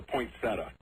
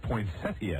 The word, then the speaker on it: poinsettia: away at christmas time oh it's a poinsettia see there's a popular school says poinsettia either way is correct according to the dictionary thank you